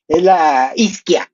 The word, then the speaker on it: Ischia: Oh, this one, oh, is Iskia. It's called Iskia Ischia, it's spelled Ischia.